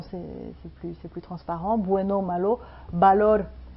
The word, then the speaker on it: valor: Bueno, malo, valor, c'est un V, mais on prononce B.